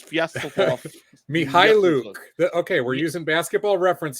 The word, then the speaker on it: Mykhailiuk: But that's not even how he pronounces the name. That's how like the Detroit broadcasters. Sviatoslav Mykhailiuk. Yeah, so that's how the Detroit broadcasters pronounce his name, but he pronounces it like with a harder K, like regardless.